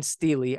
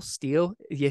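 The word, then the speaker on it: stele: the Tell Dan Steely, I know when I first read it, I'm like, what is that? Stell Steel? You say it like Steely.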